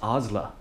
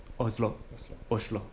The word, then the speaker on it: Oslo: In Oslo, which I've learned is in Norwegian, it's Oslo, right? Oslo. That's right, with the sh.